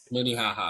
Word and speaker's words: Minnehaha: Am I pronouncing it right? Is it Minnehaha, right? Minnehaha. Minnehaha.